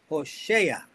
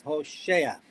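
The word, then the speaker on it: Hoshea: it says about Joshua his name was Hosa not Joshua I don't know how he said it in English exactly but it's Hosa let's see how they spell it in English It's H O S H E A.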